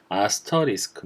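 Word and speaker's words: asterisk: 자 이거 뭘로 바라봐줘 보통 * 이렇게 하는데 정확한 발음은 아스터 리스크 입니다 이 아스터 리스크는 첫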